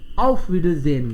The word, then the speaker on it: Wiedersehen: Neutral का मतलब बहुत नियरनेस नहीं है उसमें, बट एक स्टैंडर्ड लैंग्वेज में auf Wiedersehen.